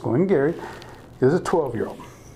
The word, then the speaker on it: Glen Garioch: I'm self-funding senior yup but it's pronounced going Gary is a 12 year